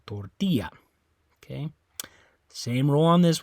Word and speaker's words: tortilla: Okay, so it's not the O, you don't say tortilla. It's not the A, you don't say tortilla. It's on that I, tortilla.